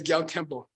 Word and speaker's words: Gyal Kempo: Say Gyal Kempo.